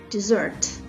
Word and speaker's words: dessert: to the Berber camp desert with double s and was a stress on the second syllable is also a noun